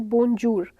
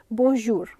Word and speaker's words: bonjour: इट इज़ नॉट ज. Typically वो ज का साउंड नहीं है. We don't call it बोनजूर. एंड ये ज फॉर जेब्रा नहीं है और ये ज से जहाज वाला ज भी नहीं है. इट्स a little bit like English में एक वर्ड होता है मेजर, ज. सो the correct sound is बोनजूर.